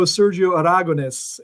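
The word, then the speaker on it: Sergio Aragonés: me i'm i'm happy i know sergio aragones yeah i think i even pronounce it almost correctly so uh that's about as good as that's that's the proper pronunciation truly yeah when it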